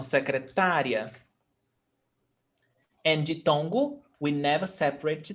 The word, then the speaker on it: secretária: Is it secretaria or secretária? Ditongo. Is ditongo. Então, secretária.